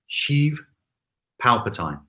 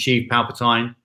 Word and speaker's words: Sheev Palpatine: The Star Wars villain Darth Sidious is called, let me see if I get his pronunciation right, Sheev Palpatine. Sheev Palpatine. Have I pronounced that correctly? Johnny and others will correct me if I haven't. But I think it's Sheev Palpatine.